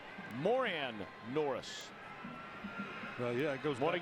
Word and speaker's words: Moran Norris: you curious he used to have his name pronounced Moran Norris and this year is asked it's more an Norris yeah it goes want to get it right